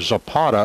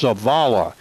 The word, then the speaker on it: Zavala: I think I called him Zapata a couple of times. It's Zavala, Z-A-V-A-L-A.